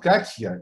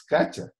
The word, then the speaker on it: Katya: It's actually not Katya, it's Katya. I'm saying it's with English pronunciation. Yes, am I right? You pronounce it that way.